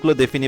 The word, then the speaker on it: les: এল এ লা লা এলই এস লে এক্ষেত্রে এস এর উচ্চারণ হবে না কারণ আমরা জানি ফরাসি ভাষ শেষের বর্ণটির উচ্চারিত হয় না বেশি সবসময় অলওয়েজ সো অল্প কিছু ক্ষেত্রে হচ্ছে ব্যতিক্রম থাকে সো ব্যতিক্রম বাদে বেশিরভাগ ক্ষেত্রেই সাধারণত হচ্ছে ফরাসি ভাষা শেষের বর্ণটি উচ্চারণ হয় না তো এলই এস এটা উচ্চারণ হবে লে লে দেন এলঅপস্টপ এগুলো